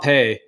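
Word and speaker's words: hapé: It's actually spelled, it looks like rape, like R-A-P-E, but it's pronounced hape. The word is R-A-P-E if it's spelled in English as it were, but it's pronounced hape, or rape.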